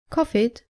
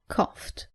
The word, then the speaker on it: coughed: as you can imagine the most common mistake is pronouncing the IDI as it after all verbs look at some examples common mistake saying help it tis helped saying walk it it is walked not cough it but coughed not order it but